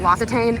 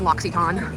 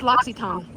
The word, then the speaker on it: L'Occitane: I thought it was L'Occitane. It's L'Occitane. What? L'Occitane. Huh? I thought it was L'Occitane. No, I heard you. It's pronounced L'Occitane.